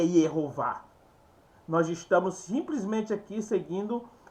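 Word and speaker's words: יהוה: Aqui a regra da distinção silábica, tá? A distinção silábica, a regra que determina que o vav seja uma sílaba. Então ele uma sílaba, uma consoante. Ele será uma consoante, tá? Uma consoante e não uma vogal. Então nesse caso aqui seria Yehová. Preste atenção.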